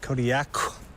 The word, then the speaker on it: Kodiaq: In the Alutiiq language, the Q's are more come from like your throat than a normal K does. How would we pronounce it then? Kodiaq.